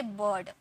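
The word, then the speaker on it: bird: आर देखिए ठीक है जब किसी वर्ड में आई के बाद आर आए तो आई को अ में पढ़ते हैं में ठीक है आई के बाद क्या आना चाहिए आ आई के बाद क्या आना चाहिए आर आना चाहिए तो उसे किस में प्रोनाउंस करेंगे अ में प्रोनाउंस करेंगे जैसे बर्ड अब देखिए आई के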